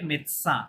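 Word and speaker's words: médecin: পারে এটা মেডিসিন হ্যাঁ এটা মেডিসিন না ফরাসিতে মেদসা মানে ডক্টর হ্যাঁ এটা হচ্ছে মেল ডক্টর যদি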